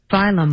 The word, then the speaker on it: phylum: Phylum. How about the PHY version? Oh, what is that? Apparently there's two that are pronounced the same way.